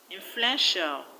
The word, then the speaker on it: influential: In the word influential, the stress is on fluen. Influential.